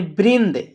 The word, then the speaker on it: वृंद: उच्चारण करता है और द यानी वृंद देखिए बोला जा रहा है तो नाक से आवाज आ रहा है हल्का वृंद ठीक है वृ छ